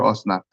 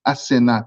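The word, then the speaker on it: Asenath: the king gives him I don't know why you call her osnat I'm sorry it's asena that's the proper pronunciation of her name are pretty ironic I've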